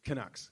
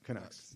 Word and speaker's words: Canucks: Yeah, the how you pronounce it, the Canucks. Kucks. Canucks. There you go.